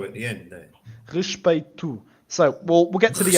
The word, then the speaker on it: respeito: We're starting with the guttural R again. So when we get an R at the start of a word, it's a guttural R always.